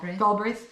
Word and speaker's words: Galbraith: Robert, how do you pronounce that though? Galbraith? Okay. Galbraith.